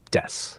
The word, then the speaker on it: desu: Just say watashi wa your name desu. You can even drop the u sound at the end of desu to make it sound more natural, like des.